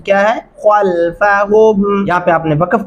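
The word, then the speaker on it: خلفهم: درست تلفظ کیا ہے؟ خلفہم.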